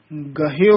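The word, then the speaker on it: ਗਹਯੋ: ये भी ध्यान रखने वाला पाठ है, गहयो उच्चारण करना। आम कई अनजान जिन्हां ने संथ्या नहीं कीती हुंदी वो गयो बोल जांदे हन, जिहदा अर्थ बहुत गलत हो जांदा है, भी सारे दरवाजे छड्ड दित्ते, तेरा दरवाजा भी गया।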